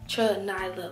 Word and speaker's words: Nyla: it's not that hard it's like Nyla like three syllables so my first name